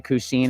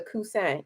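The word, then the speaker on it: Coussin: This one's going to be the Cousin, if I'm saying that correctly. No, you're not. It's the Cousin.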